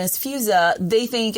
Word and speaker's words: Feuza: But the problem was growing up, people always butchered my name because the EU messes, people call me Fuchsia, Feuza.